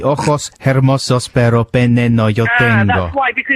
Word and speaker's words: hermosos: Y ojos hermosos, pero pene no yo tengo. That's why, because you see, you shouldn't pronounce the H.